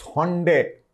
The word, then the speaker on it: Hyundai: उसने हंडे निशात, वैसे हम पाकिस्तान में हुंडई कहते हैं, हुंडई निशात मोटर्स, लेकिन हंडे जो इंटरनेशनल प्रोनाउंसिएशन है वो हंडे है।